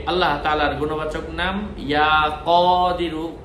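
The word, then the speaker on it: يا قدير: 12 দিনের প্রথম দিন সে আল্লাহ তাআলার গুণবাচক নাম ইয়া কদিরু, ক দরেশকার দি বসুনারস্কার রু, ইয়া কদিরু না যখন পড়বো, ইয়া কদিরু আরবির মতো উচ্চারণ, ইয়া কদিরু, একটু টেনে বলবো, ইয়া কদিরু।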